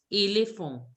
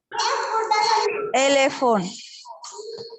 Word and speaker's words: éléphant: Yeah, N sound is not to be there. N sound should also not come. Éléphant. There should be a nasal sound. Éléphant. Elephant. N sound should not be there. It should be éléphant.